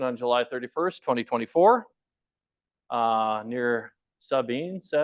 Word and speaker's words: Sabin: 138002 happened on July 31st, 2024, near Sabine, how do you say that?